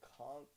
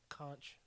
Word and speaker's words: conch: To be fair, Do you pronounce the CH? I don't know how to spell that word. Conch or conch?